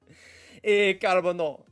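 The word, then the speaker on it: Carbonneau: I can say Carbono. I just can't I can say it that way, but why not say it the French way? Carabano, I love me some carabano.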